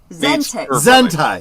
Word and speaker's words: Zentai: Zentai. Zentai. Yeah. I know. I was close. Yeah. It rhymes. Zentai and hentai.